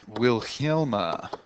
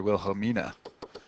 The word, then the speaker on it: Wilhelmina: on page 124 of will Hilma I don't know if I pronounced that right oh sorry Wilhelmina Wilhelmina so she's a seamstress